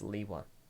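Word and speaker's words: Lewa: It's Liwa. The official pronunciation is Liwa. You can say it however you want. But the creators have spoken, and gosh freaking dang it. It's Liwa. It was said Liwa in the movie.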